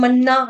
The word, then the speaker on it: पन्ना: पन्ना पन्ना की तम पन्ना है ना पन्ना डबल न अन्ना में जैसे होता है वैसे पन्ना पन्ना न डबल न का उच्चारण करेंगे।